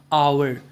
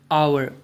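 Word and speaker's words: hour: अब यहां पे देखो एच से शुरू हो रहा है और एच अपने आप में एक कंसोनेंट है। लेकिन इसका प्रोनंसिएशन जो है आवर आवर अ का साउंड आ रहा है।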